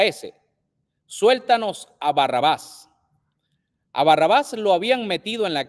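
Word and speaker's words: Barrabás: hebreo al español que el nombre se pronuncia Barrabaz.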